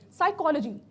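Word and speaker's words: psychology: साइकोलॉजी जब हम यहाँ पे लिख रहे हैं तो उसमें पी जो होता है वो क्या होता है, वो साइलेंट होता है. ठीक है, तो यहाँ पर क्या है, साइकोलॉजी के अंदर आपका पी साइलेंट है.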